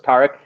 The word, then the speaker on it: Tarek: name right yeah so my name's pronounced like car wreck with the t so it's tariq anything close i answer